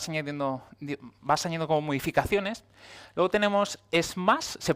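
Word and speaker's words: SMACSS: vas añadiendo vas teniendo como modificaciones luego tenemos es más se pronuncia así él lo leído en la documentación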